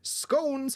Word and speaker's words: scone: fish and chips B scones or scon depending on which pronunciation you like C pancakes or D